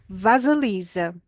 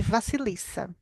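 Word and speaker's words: Vasilisa: personagem tem vários eh o nome dela se escreve se pronuncia de maneiras diferentes a chama de vasalisa eu conheci na a partir da Avon France primeiramente e ela chama de vasilissa Então vou ler para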